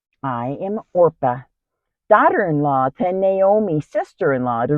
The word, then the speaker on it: Orpah: how you know her or if his relatives wouldn't pronounce her name correctly so she became Oprah I hear it still